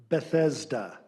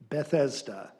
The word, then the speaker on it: Bethesda: Your word is Bethesda. Bethesda. Alternate pronunciation, Bethesda.